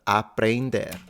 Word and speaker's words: aprender: Aprender. Aprender. Aprender. Aprender means to Aprender. learn. Aprender. So the first thing that might jump out at you is the pronunciation of the E. Yeah, N, it's like ain.